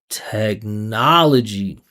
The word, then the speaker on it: technology: Look at this. Technology. Technology. Listen to the listen to the path of the energy here. Technology. Listen how when I get into that stress vowel, you can hear my musicality increase by two or 3%.